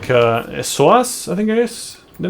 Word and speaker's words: psoas: the hips parts and the it was the psoas, right? I was saying it right. And the knees, but usually when it comes to stress-induced injuries, yeah, you're looking at wrist, elbows, shoulder, psoas.